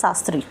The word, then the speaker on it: Sastri: Now if you see or if you pay attention on this, you will see that there is not H in Shastri. So we'll pronounce it as Sastri.